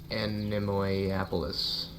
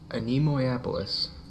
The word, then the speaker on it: Animois: Animois. Animois.